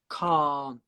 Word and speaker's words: can't: Well, in English, British English, we would say can't and can. So that's the difference between American English and British English. In America, they would say can, can't, really similar sound.